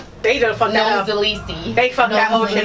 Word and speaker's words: Nomxolisi: Okay, so my name has 4 syllables, so we'll break it down. We'll start from the beginning. All right. Nom. O. Li. C. Let's get crazy. Let's say the whole thing.